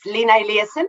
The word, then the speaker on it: Lina Eliasson: Yeah, that sounds pretty good, that pronunciation. It's Lina Eliasson.